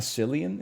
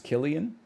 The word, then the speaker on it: Cillian: It's not Cillian. It's Killian. Well, it sounds like it should be spelled with a K then.